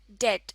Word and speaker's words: debt: Debt, इसमें b silent है और इसको debt प्रोनाउंस करते हैं.